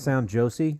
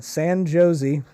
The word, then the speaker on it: San Jose: It's pronounced sound Josie. Do you know how to get there? Jeez, Scotty. Sorry, San Jose.